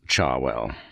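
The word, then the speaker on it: Cherwell: main Bambry Road and the River Charwell, pronounced by most of the locals, Charwell.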